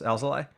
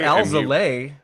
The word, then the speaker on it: Alzolay: Did you hear how he pronounced Alzoli? Yeah, yeah, it missed it. There's like several ways you could get it wrong in an understandable we way. get Alzolay.